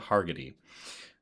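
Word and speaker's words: Hargitay: So, it's definitely the Marissa Hager uh I always get her name her name wrong. It's Marissa Hargetty um Detective Benson from Special Victims Unit.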